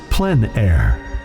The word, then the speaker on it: plein air: podcast with Eric Rhodes publisher and founder of plein air magazine in the planner podcast we cover the